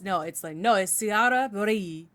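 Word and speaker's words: sigara böreği: So we have this dish and it looks like it says sigara böregi. It looks like what it is, but it's sigara böregi. You kind of brush over the G.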